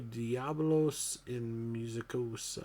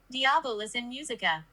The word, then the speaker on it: Diabolus in Musica: Number 1 is Slayer, and this is, I have no idea, Diablos in Musicosa, I think is how you say that. I think that's how you pronounce it. Diabolus in Musica. Musica, yeah, that's what I thought.